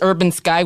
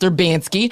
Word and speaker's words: Urbansky: people come in and they say, "Is this Urban Sky Wigan Weave?" And I say, "No, it's pronounced Erbansky." And uh there always seems to be some confusion. They think it's Urban Sky.